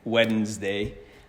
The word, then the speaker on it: Wednesday: is named after Odin that's why there's a silent D in wednessday but in French it's